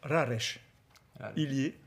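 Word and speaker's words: Rareș Ilie: On reçoit d'abord, alors on prononce Raresh, Ilier, voilà, qui nous a rejoint.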